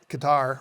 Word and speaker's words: Qatar: So we left Torrejon, Spain in August of 1990 and arrived in Doha, Qatar, or Qatar as they say. That's the way they pronounce it.